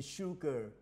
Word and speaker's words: sugar: there any sugar left no was there any sugar left คำว่า no นี่มันเป็นปฏิเสธซึ่งเราอาจจะเขียนอีกอย่างว่า neither หรือ neither ออกเสียงได้สองอย่าง neither หรือ neitherWas there any sugar?